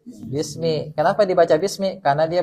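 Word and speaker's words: بِسْمِ: tanda jar apa kasr makanya di sini dibacanya kas kasr bukan bismu bukan Bisma tapi bis Bismi Kenapa dibaca Bismi karena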